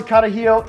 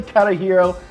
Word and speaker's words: Carajillo: Number 1, pronounce the drink right, okay? When you're going to the bar, you want to order these guys, it's called the Carajillo, not Carajillo, okay?